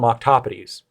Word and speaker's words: octopodes: in multiples of them, you would call them octopodes. That's the correct pronunciation if you want to follow the rules of grammar.